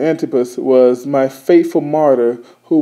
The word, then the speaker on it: Antipas: days where uh anti antus I said it wrong in the beginning Antipas was my faithful martyr